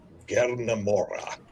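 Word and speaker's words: Gerna Mohra: It sounds like Gernamora with really trilled R's.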